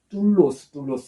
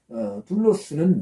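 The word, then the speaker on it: δοῦλος: 종이라는 단어는 우리가 잘 알다시피 둘로스입니다. 좀 세게 발음하면 둘로스 그러죠. 둘로스는 노예입니다.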